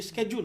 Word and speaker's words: schedule: हाँ, ये स्केड्यूल होता है. राइट, इसको हम गलत बोलते हैं.